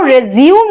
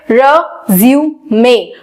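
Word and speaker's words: résumé: Present करते हैं और हम उसको बोलते हैं रिज्यूम। वो रेज्यूम नहीं, उसकी एक्चुअल प्रोनाउंसिएशन होती है रेज्यूमे, रेज्यूमे। उसकी एक्चुअल प्रोनाउंसिएशन है रेज्यूमे।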